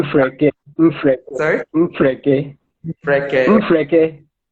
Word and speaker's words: Mfreke: This one is coming from Impreke. Hope I got the pronunciation right. The question is, I am Come working. again with the name. It's spelled Mfreke. So I'm pronouncing. Mfreke.